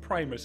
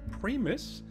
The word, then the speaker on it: Primus: uned here on the Primus server I think that's how I'm supposed to say it Primus I was told today that I've been saying pris and that is wrong so oh well that's